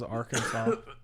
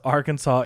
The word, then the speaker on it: Arkansas: It is strictly prohibited to pronounce Arkansas incorrectly per the state code. The only acceptable pronunciation is in three syllables with the final S silent, the A in each syllable with the Italian sound and the accent on the first and last syllables.